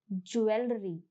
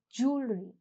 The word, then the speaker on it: jewelry: Now remember, the pronunciation is not jewelry. No, the pronunciation is jewelry.